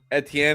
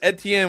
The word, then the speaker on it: Etienne: Travis Etienne, when he went to New Orleans, said his name is Etienne, is pronounced Etienne.